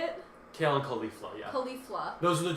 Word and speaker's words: Caulifla: Kale and Caulifla, yeah.